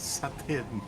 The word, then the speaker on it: seitan: It's pronounced satin.